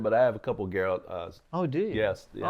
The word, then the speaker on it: Geralt: way of presenting sort of Geralt's, and it's Geralt, right? I don't want to mispronounce it. You mean Gerald?